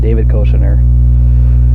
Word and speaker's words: Koechner: That's how you pronounce it, David Koechner.